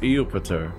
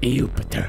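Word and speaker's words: Iupiter: Oh, it's Eupiter. That's a capital I. Eupiter. Because that's Jupiter. Yep. So I guess the I is pronounced like a J in Latin, huh?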